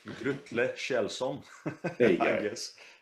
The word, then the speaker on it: Grutle Kjellson: I can't pronounce his yeah, name. Is it like Grutul Gelson or something? yeah, that guy has a difficult name, Grutle Kjellson, There you I go.